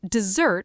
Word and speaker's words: dessert: Dessert with two s's has the stress on the second syllable. Desert with one s has the stress on the first syllable.